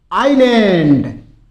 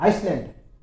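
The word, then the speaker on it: island: फिर देखिए आइलैंड। आइलैंड। इसमें एस साइलेंट रहता है। बहुत से बोल देते हैं आइसलैंड। और वो आइसलैंड नहीं होता है। आइलैंड होता है। एस इसमें साइलेंट रहेगा।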